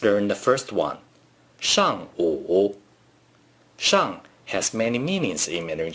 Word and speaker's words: 上: 上午 Shang has many meanings in Mandarin Chinese. In this case, 上 means upward. 上 is the fourth tone.